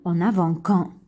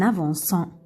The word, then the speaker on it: avançant: Si on n'a pas mis, comme حطيناش la cd, نقراو en avant quand. Maintenant, نحطو la cd, c'est pour ça on prononce en avançant.